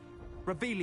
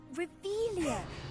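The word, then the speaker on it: Revelio: Revelius. You're saying it wrong. Ugh, Revelia. Much better.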